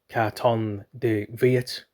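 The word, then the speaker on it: Carton de Wiart: Adrien Carton de Viet, I think I'm pronouncing that right, because he's, you know, of Belgian background and has a sort of Dutch kind of German sounding name. So the W is probably a V V sound.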